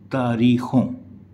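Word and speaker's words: تاریخوں: फिर न गुन्ना है अगर ये नून गुन्ना नहीं होता पूरा नून होता तो य हो जाता तारीख लेकिन यह है तारीखों का लान लान अगर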